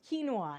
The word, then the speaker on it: quinoa: really bragging all the time about how you pronounce things correctly it's quinoa and he corrected himself quickly and there were